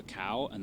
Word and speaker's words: Cahua: people think of a cow and then Okay. So that would be spelled Kahua if you're spelling it English. Exactly. Okay. And in Spanish the H is silent.